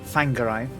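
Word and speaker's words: Whangārei: to a place called fangarai where uh my uncle's uh lady friend had a at a farm so it would be landing landing at thangarai spelt w-h-a-n-g-a-r but wh is pronounced so fangary i had an italian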